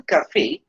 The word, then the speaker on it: cafés: Now the pronunciation is still cafe, though we have added the s because the last letter is not pronounced.